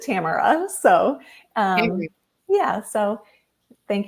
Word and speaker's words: Tamara: uh and I know my name can be said many ways but it's um my mom pronounced it Tamara so um yeah so